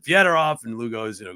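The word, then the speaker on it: Fedorov: the only ones to call him fed off and he said that's the proper Russian pronunciation he was absolutely right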